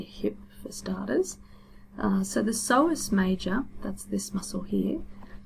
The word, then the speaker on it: psoas: So the psoas major, that's this muscle here, the psoas is spelled P-S-O-A-S, so the P is silent, and it originates along